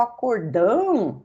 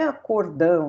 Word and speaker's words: acórdão: Eu explico para ele que o acordão não é acordão, né? E aqui esse acento não existe. A sílaba tônica está aqui.